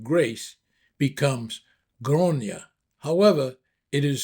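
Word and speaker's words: Gráinne: In the Irish language, the name Grace becomes Groia. However, it is spelled G R A I N E.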